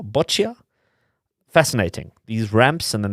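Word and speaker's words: Boccia: Is it pronounced Bokia? Botchia.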